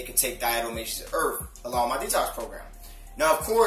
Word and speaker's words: Diatomaceous Earth: So let's get into the benefits of Diatomaceous Earth. That's how you pronounce it.